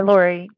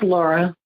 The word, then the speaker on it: Laura: Hi, Lori. Hi. Am I pronouncing your name right? It's Laura. Laura.